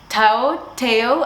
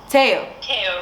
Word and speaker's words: Teo: of your name, because Teo, I have 10 million pronunciations of your name, so if you could please correct. It rhymes with mayo. Teo rhymes with mayo.